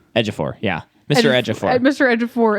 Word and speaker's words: Ejiofor: Ejiofor, yeah.